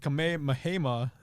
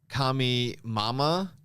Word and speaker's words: Kamehameha: It's Kamehameha wave. I heard some kids say it pronounce it Kami Mama. Kami Hamama. No, Kami Yamama. That's how he said it.